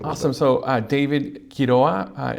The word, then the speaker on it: Quiroa: So David Quiroa, it's spelled Quiroa. And do you roll the R? Well, you don't have to. I don't, but you can if you want.